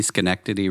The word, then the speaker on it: Schenectady: Every time I see Schenectady written out, I think that there's this like pronunciation video that's like the first result on Google is like Sinodody Tody Chody.